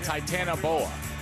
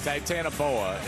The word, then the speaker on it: Titanoboa: I believe it would be Titanoboa. Titanoboa. Yeah, that's right. Titanoboa is the way you pronounce that one.